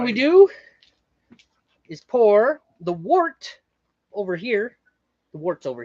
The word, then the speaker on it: wort: it's actually pronounced wort, like W-E-R-T, but it's spelled wort. But it's spelled wort, W-O-R-T.